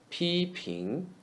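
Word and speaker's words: 批评: P 平 P is read as the first syllable of peanut. P. 平 is the word pin in the second tone. Pin. 平批评 means criticize.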